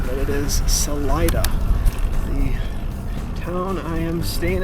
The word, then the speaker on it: Salida: saat and I'm sure I'm sure I've been mispronouncing Salida as Salita but it is Salida the town I am staying at tonight 45